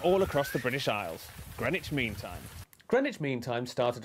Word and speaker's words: Greenwich: east london suburb of greenwich where you don't pronounce the w or one of the e's and right here is